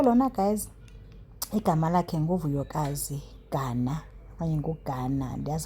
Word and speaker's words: Gana: So lona guys, igama lakhe nguVuyokazi Gana okanye nguGana, that's how to pronounce the name.